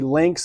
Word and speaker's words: Lynx: He also has a YouTube channel at Jacoje Links, and Links is spelled Lynx.